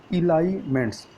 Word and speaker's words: Elyments: पहली social media super app, जिसका नाम है इलाइमेंट्स। तो इलाइमेंट्स की स्पेलिंग क्या है, पहले स्पेलिंग देख लीजिए।